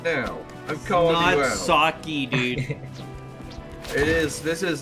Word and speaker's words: sake: They're saying suck e like an eh sound.